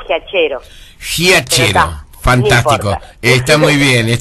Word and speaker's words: Giachero: Sí, en realidad me dicen de varias maneras. Por lo general se dice como se pronuncia, Giachero.